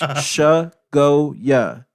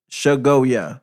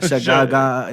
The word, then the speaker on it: Chagoya: It's pronounced Chagoya. Chagoya. All my like friends Chagoya. have felonies. Goya. Yeah, like get it right. It's not Yo. It's not Chagaga.